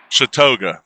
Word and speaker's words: Chautauqua: Chautauqua, just so you know.